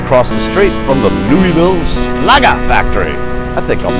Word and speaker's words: Louisville: from Lou Ville Kentucky took me a couple of times to learn how to pronounce that correctly I was calling it Lewisville much to my shrin Louisville Kentucky future home of